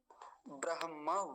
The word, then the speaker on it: ब्रह्म: फिर से देख लीजिए ब्रहम ऐसा बोलेंगे ना कि ब्रह मकार बाद में आता है यह वाला नहीं